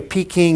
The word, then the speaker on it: Peking: great traditions of beijing by the way peaking is the old pronunciation and spelling it's all changed in roman letters and foreign pronunciations but it's always been beijing to in mandarin chinese but we still call